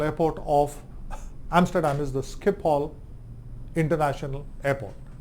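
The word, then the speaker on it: Schiphol: main airport International Airport of Amsterdam is the Skip Hall International Airport s c h i p o l or h o I forget but skip all is the is the is the way pronounced skip all International Airport what were they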